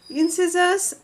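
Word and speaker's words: incisors: See incissors sound like scissors. No, the spelling is different but it sounds the pronunciation sounds like scissors.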